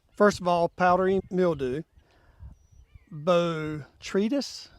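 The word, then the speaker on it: Botrytis: of all powdery mildew B tretis I think that's how you pronounce it and also there's anthra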